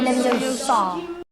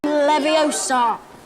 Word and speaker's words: Leviosa: Leviosa. Wingardiums. Wingardium leviosa. Look. Stop. Stop. Stop. You're going to take someone's eye out. Besides, you're saying it wrong. It's Leviosa, not Leviosa.